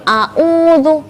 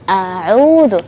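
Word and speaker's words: أعوذ: Ya, khususnya ketika ta'awudz ya, seringkali saya mendengar kalau ta'awudz itu a'udzu, tapi seharusnya a'udzu seperti itu.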